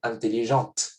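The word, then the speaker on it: intelligente: Si aquí yo no pronuncié la T en intelligent masculino, ahora sí lo voy a pronunciar. Intelligent se vuelve en femenino, intelligent.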